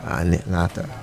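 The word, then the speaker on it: anattā: Say, it's like lecture, Kai will call this Anita. Oh, that's how you say it? Anita or Aneta? Anata.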